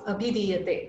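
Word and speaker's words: abhidhīyate: Okay, so this word becomes abhidiyate when you break it. When you join it, that S symbol comes, the A vanishes, and you don't pronounce it at all. Okay, so tattva bodha abhidiyate.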